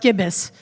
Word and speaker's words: Gibis: My friend Tom Gibis here, it's pronounced Gibis, he did Comic-Con in San Diego with Zion